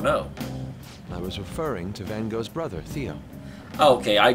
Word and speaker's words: Van Gogh: It's also interesting they pronounce it Van Gogh, when I think it's actually pronounced Van Gogh. Van Gogh's an Americanization, but not the way that it was actually pronounced by the person himself.